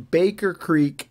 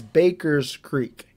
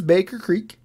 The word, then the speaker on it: Baker Creek: and that is that I was pronouncing Baker Creek as Baker's Creek now why I did that I don't know because I know that it is Baker Creek but for whatever reason